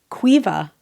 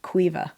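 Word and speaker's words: Caoimhe: whil it's my friend Quiva oh I like that isn't that a pretty name the way that's spelled it's c a o i m h e but pronounced Quiva it's like sioban how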